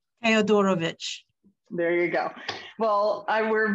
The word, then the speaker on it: Theodorovich: How do you pronounce his last name? Theodorovich.